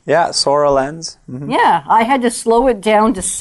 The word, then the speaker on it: Soralens: so I think I'm saying it right yeah sorrel ends yeah I had to slow it down to